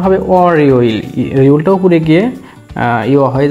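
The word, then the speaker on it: 월요일: তাহলে উচ্চারণটা হবে অর ইয়োইল, ইয়োলটা উপরে গিয়ে ইয় হয়ে যাবে অর ইয়োইল, এবং মিলে উচ্চারণ হবে এখানে অর ইয়োইল।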